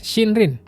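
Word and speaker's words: 森林: Sebagai tambahan di sini ada shinrin. Shindrin itu artinya hutan juga. Jadi kalau dua kanji ini digabung bacanya shindrin artinya hutan.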